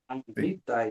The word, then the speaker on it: Hittite: Hittite Hittite And last suggestion is the next line answered.